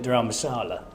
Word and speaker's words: Dharamsala: But my point is, my first point today, my only point actually, because everyone's got one, is the outfield at Dharamsala. Have I pronounced that correctly?